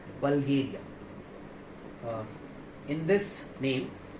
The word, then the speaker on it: Bulgaria: बल्गेरिया, बल्गेरिया। In this name we will pronounce it एज AAS आ। तो यहाँ पर हम इसको प्रोनाउंस कर सकते हैं और इसका सही प्रोनाउंसिएशन होगा बल्गेरिया, बल्गेरिया।